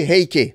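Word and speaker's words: 平家: Alors eux, ce sont les Heike, c'est-à-dire la maison des Hei. En fait, c'est le même nom, toujours le même kanji, mais prononcé à la chinoise.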